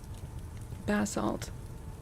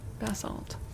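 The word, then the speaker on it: basalt: Bassalt. I feel like that must be how we say it. Well, we probably say a mix of it in Canada, but I feel like I've heard it with the the emphasis on the first salab.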